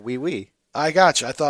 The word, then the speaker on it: oui: Is that how O-U-I, is that we? Yeah, we.